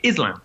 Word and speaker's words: Islam: It's Islam. It's Islam. Yeah. It's a z.